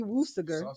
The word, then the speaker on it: Worcestershire: See, Woosager. What? See Worcestershire. Worcestershire sauce. It is. It's see Woosager. See Worcestershire.